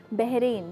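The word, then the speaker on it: بحرین: बहरीन, जिसको हम बहरीन भी कुछ लोग प्रोनाउंस करते हैं, कुछ लोग बहरीन प्रोनाउंस करते हैं, वहाँ की एक बड़ी मकबूल डिश है जिसका नाम है मचबूस।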